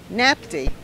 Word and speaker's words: NATPE: a tough one and it's natpe pronounced nap tea whatever and if you say that p you're not saying it right you guys playing who